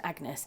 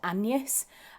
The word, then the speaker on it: Agnes: or in previous history, Agnes wasn't pronounced Agnes, it was pronounced Agnes, and that's how they pronounced it, Agnes, and then shortened, she would be Anne.